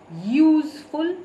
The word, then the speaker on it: useful: For vowels which have the sound of yu, we do not use an. For example, a useful person.